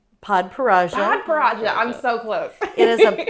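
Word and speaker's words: Padparadscha: Podparaja.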